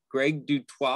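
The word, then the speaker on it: Greg du Toit: photographer named greg dutt it's g-r-e-g d-u-t-o-i-t greg dutwa i think i'm pronouncing that correctly um he's got some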